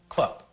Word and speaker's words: club: like in bet but when it's on the end of a word it's pronounced like a p sound as in club just like the c